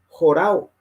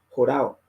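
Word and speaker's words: ὁράω: Los que les gusta buscar pueden mirar ese número y dice jorao. Se escribe O-R-A-W, que es una O, jorao.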